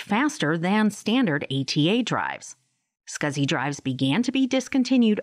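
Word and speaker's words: SCSI: least four SATA ports small computer system interface pronounced scuzzy hard drives joined the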